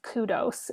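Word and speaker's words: Qdos: And the other one I love is Kudos, is how you say that. Kudos. It's a very interestingly spelled brand name, but that's how you say it.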